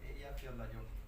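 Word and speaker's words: Eyjafjallajökull: El truco que son 3 palabras juntas, ¿no? Ella, que significa isla, Fjalla, que significa montaña, y Jökull, que significa glaciar. Entonces, los separas en 3 y entonces es más fácil de pronunciar, pero sí, desde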